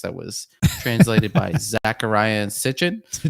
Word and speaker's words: Sitchin: old sumerian text that was translated by zachariah sitchin right and that's supposed is sichuan is that how you say it yeah you